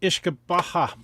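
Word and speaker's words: uisce beatha: It's Gaelic and it's actually pronounced Ishkabaha.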